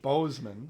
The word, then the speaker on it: Boseman: Boseman.